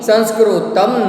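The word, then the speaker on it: संस्कृतम्: संस्कृत वो तो हम सब बोलते हैं, पर यहाँ पे त के माथे पर बिंदी है, अनुस्वार है, तो वहां पे तम प्रोनाउंसिएशन होगा. पठामि संस्कृतम नित्यम.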